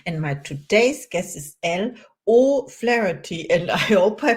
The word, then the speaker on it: Elle O'Flaherty: name is Caroline and my today's guest is l o flarey and I hope I pronounced your name right I trained how are